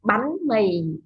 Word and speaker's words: bánh mì: So, ba, b here is the beginning consonant, and the a and h is van, and the tone is yếu sắc.